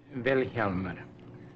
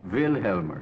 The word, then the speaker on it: Vilhjálmur: to pronounce your name velmer the accent on the first Sy velmer velmer velmer velmer well